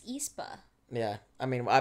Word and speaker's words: aespa: learn so much from from espo or espor i apologize brown said it wrong i think it's espa yeah i mean i